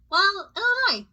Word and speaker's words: Illinois: Yes, my name is Illinois and I need an airline ticket to, Illinois. The S is silent.